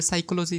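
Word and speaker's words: psychology: দেখো পুরা সঠিক রয়েছে সাইকোলজি শুধু সামনে কি হয়েছে পি রয়েছে মানে হচ্ছে কিছু কিছু শব্দ রয়েছে যাদের সামনে আলফাবেট থাকতেছে বাট ওই লেটারটা কিন্তু উচ্চারণ করা হচ্ছে না সো এটাকে বলা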